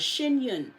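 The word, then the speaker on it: Shen Yun: on with that it's called shun and it'll um it'll say China before communism again it's spelled s h e n y u n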